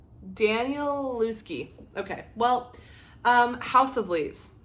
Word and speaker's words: Danielewski: How do you pronounce his name? Danielewski.